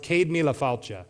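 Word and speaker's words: Céad míle fáilte: It's an Irish phrase that's pronounced cadmia and it means 100,000 welcomes.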